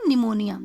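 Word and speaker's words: pneumonia: अब देखो यहाँ पे पी साइलेंट है ना, हम क्या बोलेंगे, निमोनिया.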